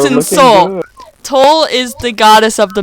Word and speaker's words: Toul: And Wouldn't it be towel? No. Like foul? no, absolutely not. And if you say it like that, she may just smite you. Oh, Is it Toul? Toul's finger. It's Toul's finger. Toul. Toul's. Toul is in Seoul.